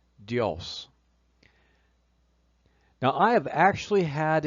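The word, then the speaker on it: Διός: And the name spelled delta iota amocron sigma in Greek is definitely pronounced dios.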